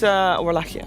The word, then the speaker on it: Wallachia: But, Wallachia, that's how you say it actually.